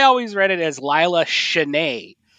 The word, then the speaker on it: Cheney: So I do think it's Cheney, if only because, from what I understand, she's originally British.